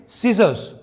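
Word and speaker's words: scissors: विज्ञान next example है सीजर्स यहां पर भी सी साइलेंट है सीजर्स इसका मतलब होता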